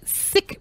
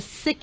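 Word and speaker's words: Syqe: From the testing and science portion, out of Israel, there's a company called Sick Medical, or pronounced Psych Medical.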